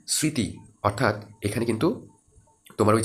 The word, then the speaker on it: স্মৃতি: ময় দীর্ঘ তয় স্মৃতি আমরা স্মৃতি এভাবে বলি না তো ম এর উচ্চারণ এখানে করি না ঠিক আছে এটা স্মৃতি অর্থাৎ এখানে কিন্তু তোমার